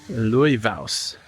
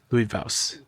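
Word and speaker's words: Laufás: you in the rain Louis V is how it's pronounced and it Loosely translate Leaf Hill Louis V I'm still not sure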